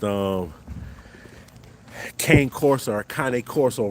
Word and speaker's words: Cane Corso: So, um, it's not Kang Corso, it's Kanye. Kanye Corso, y'all. Make sure y'all get that right.